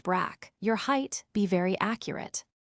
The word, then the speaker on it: Brig: Your nationality, British name, Patrick Carolyn Brig, pronounced Brack.